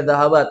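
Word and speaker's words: ذهبت: Ya, jadi bacanya dhahabat karena failnya di belakang adalah ummuhu. Dan kemana pergi ibunya?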